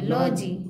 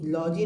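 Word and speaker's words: lodge: ज बोलेंगे ज बोलेंगे डी यहां साइलेंट है ठीक है जी साइलेंट है डी साइलेंट है डी ओ हां डी साइलेंट है तो ल ल हा जी हो जाएगा लॉजी लॉजी नहीं ई को तो लास्ट में पढ़ते ही नहीं हम लोग तो लॉज हो जाएगा हां लॉज हो जाएगा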